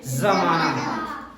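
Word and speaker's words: ज़माना: इसे हम पढ़ेंगे राज, इसे कस्म, इसे सजा, इसे गज, इसे तेज, इसे जमाना। और इन्हें हम नॉर्मल जैसे पढ़ते हैं इनका उच्चारण मुंह से होता है, जबकि इनका नुक्ता वाले शब्द वर्णों का उच्चारण जो होता है वो गले से होता है।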